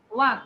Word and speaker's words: walk: ওয়াক, বাবা এল এর উচ্চারণ হবে না, ঠিক আছে? ওয়াক ওয়াক ওয়াক, ওকে ওকে, এল এর উচ্চারণ হবে না, সো এলটা সাইলেন্ট।